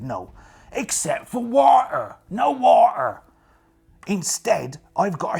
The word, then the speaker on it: water: Or water, as they say in Dutch, which I don't think is very imaginative, just to spell it the same, but sound it with a V.